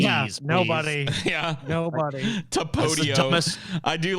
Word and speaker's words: Tapatio: It's the patio. The patio. Go sit on the patio. The patio. I like it, dude. Well, teach me how it's pronounced. It's Tapatio.